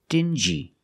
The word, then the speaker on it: dingy: example dingi and stingi these two words have the regular n Sound n plus the J like juice together stin G together stingy or d g together dingy this wall is very